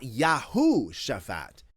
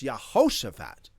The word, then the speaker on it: Yehoshaphat: The king is not Yahushaphat. It's Yehoshaphat.